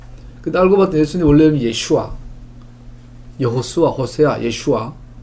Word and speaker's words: 예슈아: 제수스 뭐 이러잖아요 근데 알고 봤던 예수님 원래 예슈아 여호수아 호세아 예슈아 그 나사렛 그 갈릴리 지방에서 아자를 빼기도 한다고 아자가 이제 발음이 이게 소리 바름이 약하게 나서 예슈 이렇게